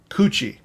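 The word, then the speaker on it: 口: Kuchi. So it's kuchi by itself. But you're right. It gets that soft G. It goes from a hard K to a soft G when it's put with other things.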